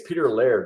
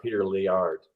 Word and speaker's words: Peter Laird: your mitch i'll just i think it's peter laird not peter lee art yeah i know i